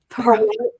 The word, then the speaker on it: Pahrump: Is it Pahrump? Pahrump. Like, it sounds like a Willy Wonka deal.